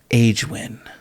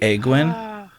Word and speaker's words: Aegwynn: Magna, M-A-G-N-A, Grand Magna Agewin. Is it Agewin? Am I saying it right? Egg win. I don't want any eggs. But eggs are a win. Is it really Egwin? Yeah. Oi.